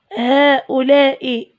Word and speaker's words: هؤلاء: نكتب الالف وننطقها هاتان هؤلاء زوار هؤلاء زاروا محميه سيدي بوغابه قرب المهديه اذن هؤلاء ايضا ننطق الالف ولكن لا تكتب هؤلاء هؤلاء هؤلاء هذه